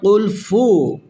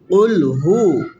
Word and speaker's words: قل هو: It's not qul fu. Qul hu.